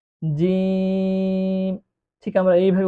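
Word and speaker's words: جيم: এরপরে যে অক্ষরটি আছে সেটি হল জিম। এ অক্ষরটি উচ্চারণ করার সময় তিন আলিফ টান দিয়ে পড়তে হবে। জিম।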